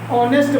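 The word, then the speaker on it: honest: ऑनेस्ट नहीं बोला जाता, ऑनेस्ट बोला जाता है। ऑनेस्ट एक साइलेंट है।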